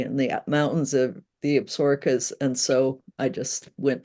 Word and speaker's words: Absaroka: I've been calling it Soroka. You call it what? It's Absarokas. There's a town called Absaroki, but the mountains are called Absarokas.